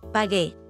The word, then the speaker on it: pagué: Pagué. Pagaste. Pagó. Pagó. Again, notice there's a change in the yo form from G to GU before E to preserve the hard G or G sound.